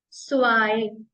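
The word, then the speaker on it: zwei: बोलते हैं नल नल नल वन को हम प्रोनाउंस करेंगे ions ions ions same to स्वाय स्वाय three dry दाई dry four fear fear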